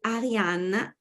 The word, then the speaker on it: Ariane: And today we're here with Ariane, pronounced in a very Italian way.